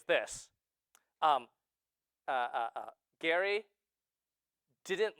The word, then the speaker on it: Gerry: So Jerrymander is named after him who doesn't even agree with it and they got his name wrong, right? His name is Elbridge Gary, but we say gerrymandering.